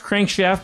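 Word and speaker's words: CRNKSHFT: out is a vancouver's crankshaft it's pronounced crankshaft but it's spelled c-r-n-k-s-h-f-t current shift so maybe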